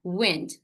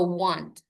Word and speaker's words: went: So please make sure that you are pronounced wind no want.